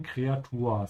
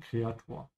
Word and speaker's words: Kreatur: Es ist nur eine Kreatur. So these sounds should sound the same. Ur, ur. Nur und Kreatur.